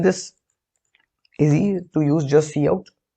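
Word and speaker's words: cout: see out freely right the pronunciation obviously is see out now int main this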